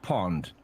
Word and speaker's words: pond: was one british pound the british pound in dutch is pronounced pond in a pond you've